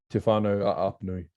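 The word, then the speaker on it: Te Whānau-ā-Apanui: So you mentioned that your iwi is Tawhana Apnui, is it? How you say it? Yeah, Te Whānau Apnui.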